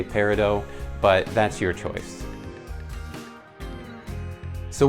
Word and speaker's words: peridot: Is it peridot? I'm understanding that both are acceptable pronunciations, but if we're being honest, if you talk to someone within the jewelry industry, someone that deals with gemstones, they're gonna say peridot.